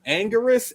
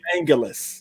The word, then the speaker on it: Anguirus: Anguirus, Anguirus, or Angulus? I'm an Angulus guy.